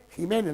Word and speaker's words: Ximénez: El Pedro Ximénez, el vino no es Pedro Ximénez, como decimos, es Pedro Jiménez, lo que pasa es que se escribe con X.